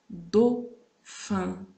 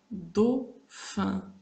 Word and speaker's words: Dauphin: Nous avons A avec U. Ça donne O. On prononce O. A with U. In French, we pronounce O. It gives us O. Exemple. Dauphin. Dauphin. Automobile. Je prononce le AU. O.